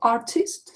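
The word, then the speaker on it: артист: Artist. Pay attention to the stress. The stress is different from English. In English we have artist, so I stress. In Russian i is stressed.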